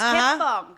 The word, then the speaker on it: 개뻥: It's 개뻥.